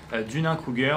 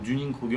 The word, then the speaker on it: Dunning-Kruger: Aujourd'hui je vais vous parler d'un effet qu'on appelle l'effet Dunning-Kruger ou Dunning-Kruger, on peut le prononcer comme les deux.